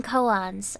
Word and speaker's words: koan: Are you aware of Kivotos's seven koans? All right. Thank you. Cat? Cat? Koan sounds like poem? No. Not according to this, at least.